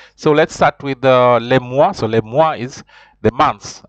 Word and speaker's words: les mois: explain the activities so let's start with the Le Moi so Le Moi is the months um the months